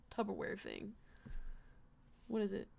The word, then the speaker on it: Tupperware: that, I think of that whole little like Tupperware thing. What is it? How do you say that again? Tupperware? Say it again? Tupperware? Say the first syllable. Tub.